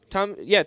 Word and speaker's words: Thom: It is Tom Bro, York.